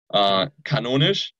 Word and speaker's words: kanonisch: Oh well, it's like a canon, like kanonisch.